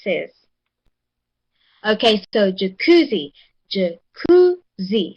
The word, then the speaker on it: jacuzzi: So, jacuzzi. Jacuzzi. So, the C is the second syllable. That's the one that receives the stress.